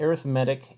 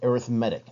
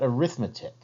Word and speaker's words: arithmetic: a sequence and in particular we look at arithmetic and geometric sequences notice I said arithmetic not arithmetic spelled the same way but we actually say